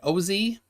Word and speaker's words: Osee: So, I want to make sure I pronounce it right. Osee?